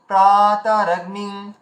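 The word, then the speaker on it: প্রাতরগ্নিং: তো এখানে যে কথাটা বলা হলো যে দীর্ঘ হ্রস্বকে মেনটেন করা, যেটা আমি আপনাদেরকে দেখাচ্ছিলাম, যেমন পয়রা ফলা আকার, এটা দীর্ঘ, তারপরে ত হচ্ছে হ্রস্ব, র হচ্ছে হর্ষ, গয় নয় হস্যি হস্য। তাহলে এখানে আমাদের উচ্চারণ করতে হবে কি প্রাতারগ্নিং। এই যে প্রাটাকে আমরা টানলাম, দীর্ঘ করলাম, বাকিগুলোকে দীর্ঘ করলাম না, প্রাতারগ্নিং।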